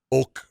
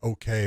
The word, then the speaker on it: Ok: going to look at Rayun Ok is how you say it. It's okay, but this is the